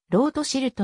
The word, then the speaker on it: ロートシルト: 筆頭にあげられる日本で知られているロートシルトの名はロスチャイルドのドイツ語風の読みでありフランス語での発音は異なる日本ソムリエ協会で